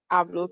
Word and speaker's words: hablo: For example, if you see HABLO and following the language rule, you know that that is going to be pronounced hablo.